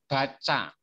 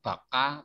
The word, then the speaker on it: baca: So this is read baca, not baka, but baca.